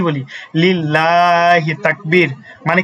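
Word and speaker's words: لِلَّهِ: আমরা যখন মিছিলের সময় হচ্ছে কি দেই তাকবীর দেই আমরা কি বলি যে লিল্লাহি তাকবীর তাই কি বলি না আমরা কি বলি লিল্লাহি তাকবীর মানে কি লামটাকে আমরা চিকন করে পড়ি ঠিক আছে লামটাকে আমরা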